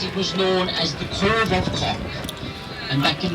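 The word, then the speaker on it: Cobh: C-O for the P-H would be the Irish spelling of it, pronounced Cove. Now some people will pronounce it Cobb. And C-O-V-E would be the English spelling of it, also pronounced Cove.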